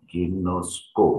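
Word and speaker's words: γινώσκω: Ya, ginosko bacanya.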